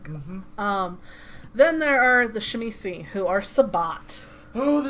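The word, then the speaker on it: Tzimisce: I pronounce it Shemisi, because that's how my old DM pronounced it.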